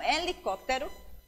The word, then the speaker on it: helicóptero: Então, helicóptero começa com H, mas pronunciamos I.